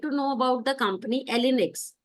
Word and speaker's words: Allnyx: So first of all I would like to know about the company Elinx. How we pronounce this company? Uh company name is Ollex.